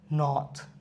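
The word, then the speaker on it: knot: next হচ্ছে নক নক নথ নথ মানে কি গেরো বা দড়ি বাধলে যে গাটি বা গুটি বলে ন এবং একসাথে থাকলে উচ্চারটা হবে না নলেজ নলেজ নলেজ নলেজের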